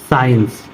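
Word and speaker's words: science: कब साइलेंट होता है जब एस के बाद सी आता है तब सी का उच्चारण नहीं किया जाता है कभी भी अगर एस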